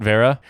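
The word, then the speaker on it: Wera: correctly like uh like the screwdriver manufacturer vera w-e-r-a i pronounce it vera i'm not proud of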